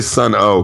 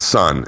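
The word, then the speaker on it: Sunn O))): Which, by the way, I'm going to say sun o cuz that's the way it reads. But sun is really how you're supposed to pronounce it cuz there's supposed to be some amplified.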